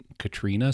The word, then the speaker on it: Katarina: a young Priestess named Katarina although they pronounce it Katrina sometimes um Katrina Katarina believes